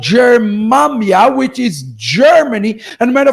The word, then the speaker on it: Germania: How do you say Germany in Hebrew? Germania. Germania. Germany, which is near the